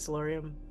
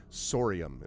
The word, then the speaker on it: Sorium: Solarium. Solarium. Solarium. Oh no. Sorry, not solarium. Sorium is what you. Sorium. Yes. So the crystalline structure we discovered is sorium.